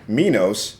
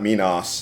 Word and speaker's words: Minos: so back up at the top of mine, I noted Minos, not Minos, as Picard kept saying.